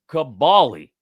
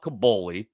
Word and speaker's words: Kaboly: KUH hyphen all caps BALL hyphen lowercase EE. Kaboly.